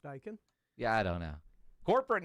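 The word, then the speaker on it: Daikin: Dakin. Is it Dakin or Dyken? Dyken. I think it's pronounced Dyken.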